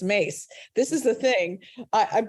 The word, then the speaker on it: Myss: And her last name is Mace, and it's spelled Myss. Okay, Carolyn Mass. Okay. Mace. It's Mace.